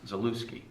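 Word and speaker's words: Zaluckyj: here was named tom zalewski and his name is spelled z-a-l-u-c-k-y-j so it looks like the lucky j but it's pronounced zalewski okay so uh that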